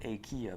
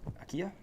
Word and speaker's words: IKEA: it's called an ikea not like akia but it's like aqila ikea that's how they say it sure and i got